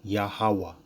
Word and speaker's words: YAHAWAH: too hard to say yahwah is a simple three syllable name okay yahawa anybody in the world can say yahawah it's not hard okay people just be